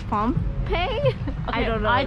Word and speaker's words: Phnom Penh: Phnom Penh.